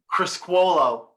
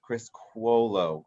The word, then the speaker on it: Criscuolo: Criscuolo. Criscuolo.